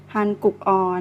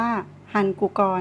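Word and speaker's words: 한국어: ที่ เห็น นะ คะ เรา จะ อ่าน ได้ ว่า พัน กู ก่อน นะ คะ hankook ออก แต่ ว่า ใน ภาษา เกาหลี เขา จะ มี กฎ ว่า ถ้า พยาน ที่ อยู่ ข้าง หน้า มี ตัว สะกด แล้ว พยางค์ ถัด ไป ขึ้น ต้น ด้วย ตัว E อีก หนึ่ง ๆ ให้ เรา อ่าน เชื่อม เสียง ด้วย เพราะ ฉะนั้น คำ นี้ เรา ก็ เลย จะ ต้อง อ่าน ว่า ฮัน กุ กอ นั่น เอง นะ คะ อ่ะ คะ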